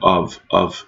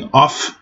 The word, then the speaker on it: of: Of what обращаю внимание, of это слышно в кром, не f, не off, а of.